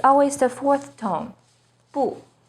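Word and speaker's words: 不: always the fourth tone bu when bu is followed by a character with a fourth tone it changes to the second tone Bo for example when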